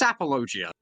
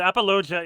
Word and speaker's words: apologia: in funky way but apogia is how it's pronounced yeah Rose oh okay